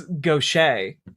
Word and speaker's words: gauche: Oh, text-to-speech read that wrong. Obviously, it's gauche.